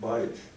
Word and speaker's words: Beug: From 1780 up until now, the spelling of the name has stayed pretty much the same, although the pronunciation's been different. My uncles Bud and Dan Beug pronounced it Bike, B-I-K-E.